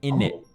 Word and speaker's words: innit: They would tend to not pronounce the T at the end. So it would be more like innit, innit, and you would sort of also, lose no the T.